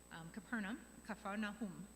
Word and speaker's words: Capernaum: Capernaum, is how it's pronounced in Hebrew.